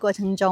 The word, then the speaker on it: 这: Zuì kāi shǐ de shí hou 最开始的时候 Lúc ban đầu, Zhè liǎng ge cí fā yīn zhǐ yǒu zhè hé nà 这两个词发音只有这(zhè)和那 (nà) hai từ này chỉ có phát âm là "zhè" và "nà".